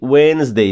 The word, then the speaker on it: Wednesday: Sunday, Monday, Tuesday, Wednesday, não le o D.